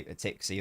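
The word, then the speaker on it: Tsimikas: So they clearly know Tsatsiki. I maybe start calling him that. Yeah, I call him Cheeky. I'm assuming that's how it's pronounced, but I know some people say Tixie or whatever.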